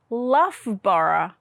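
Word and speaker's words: Loughborough: you think it says well we pronounce it luffborough it's got two of these tricky ough sounds in it and they're both different what about this one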